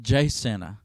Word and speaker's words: Jacinto: of san jacinto in texas but the locals pronounce it jsenna the fifth battery spent much of the summer